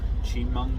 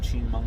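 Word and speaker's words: Chemung: where the ramp is it's chi chimong new york town of chinmong new york i can't i can't see that being pronounced any different way it's c-h-e-m-u-n-g um anyway we're here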